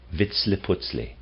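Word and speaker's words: Vitzliputzli: it into our speech approximates vitle I'll spell that VI TZ Li i p u z l i Vitz putley he is a human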